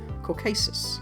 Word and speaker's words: Caucasus: I guess I was just thinking of the word Caucus thinking that was the region, right? Caucasus.